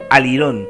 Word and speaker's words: alirón: bueno, pues eh eh la palabra degeneró en alirón todo junto, ¿vale? Y con acento en la o ahí.